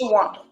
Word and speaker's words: Shawanda: Okay, it's Shawanda. Okay. Mm-hmm. But it's spelled Shawanda.